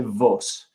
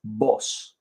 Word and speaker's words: vos: their friends and family they will use boss boss it's spelled v but don't say Vos it's boss and the conj in the